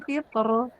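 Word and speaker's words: قطر: Nah, ya yang fitr itu boleh tebal, boleh tipis ya, tapi dia lebih utama tipis.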